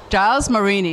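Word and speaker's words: Gilles: Okay, so here we are with Giles Marini. Is that how everyone pronounces your name? Because I've heard it pronounced like 20 different ways. It's Jack and Jill. I'm the other one. Jill.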